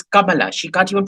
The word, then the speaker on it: Kamala: pronounce her name properly it's not kamala it's kamala she can't even pronounce